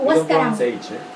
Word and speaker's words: Huascarán: We don't pronounce H. Wa? Huascaran. Huascaran. So in the case in Spanish H, doesn't have sound. Like Huáscara, like you, no? Huáscara. H doesn't have sound in Spanish. For that reason is Huáscara. For example, hotel or hospital.